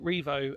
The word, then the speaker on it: Rievaulx: Um, welcome to Revo Abbey. Um, which is a beautiful pronunciation. Um obviously the French connotation of it obviously Norman um like Bayer or Bayer for some of you.